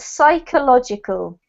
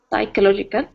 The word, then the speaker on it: psychological: is don't forget the the p is silent so ignore the p and we've got psychological psychological perfect and this one